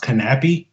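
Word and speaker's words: Knappe: Apparently, Andreas Knapp's name is pronounced Knappy. I looked it up the other day. So I've been getting that wrong all off season long. So I guess in Denmark they don't, the K is not silent or something.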